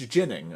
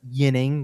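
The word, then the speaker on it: Ginning: talking about this today almost with a little bit of a um like an Alexi jnik kind of pronunciation but it is a soft sound so it's it is not yining which is what Jin yining is more of what the Swedish pronunciation should be but he has said it's it's jinning man if he ever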